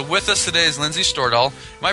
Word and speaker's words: Stordahl: And so with us today is Lindsay Stordahl. Am I pronouncing your last name correctly, Lindsay?